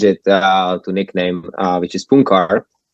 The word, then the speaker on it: Puncar: It was actually originally Punchar. It's like the soft C there, but it would be too hard probably to pronounce for people. So I just stick with like a regular C.